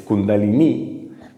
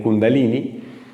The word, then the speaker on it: kundalini: se llama kundalini mal pronunciado incluso porque la pronuncia de la palabra es kundalini Pero ellos se denominan kundalini que utilizan el yoga como una forma de